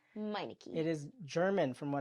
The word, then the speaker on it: Meineke: tricky in the tongue but it's called It's pronounced miniki miniki it is German from what I believe so